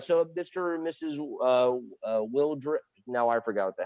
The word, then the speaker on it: Wildrick: Yeah, we like either, but Wildrick is correct.